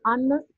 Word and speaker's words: honest: An honest person, orang yang jujur. Walaupun ini huruf depannya huruf konsonan, tapi dibaca vokal, soalnya H-nya di sini tidak. An honest.